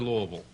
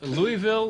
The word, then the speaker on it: Louisville: How do they pronounce it down there? Louisville or Louisville?